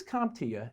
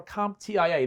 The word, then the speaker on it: CompTIA: first question who is comptia and is it pronounced comptia or comp tia there's always confusion about there is that's a good one it's comptia so thanks for asking